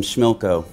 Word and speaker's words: Schmilco: about wilco's new album schmilco now I know that sounds like a jokey album title but we're really proud of it see it rhymes with Wilco which is the name of our band just like it says